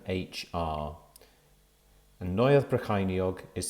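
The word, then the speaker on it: Neuadd Brycheiniog: poiss community health council brecken office first floor neueth brachiniog cambrian way brecken ld 3 7 hr and neueth brachiniog is spelt n e u a d d b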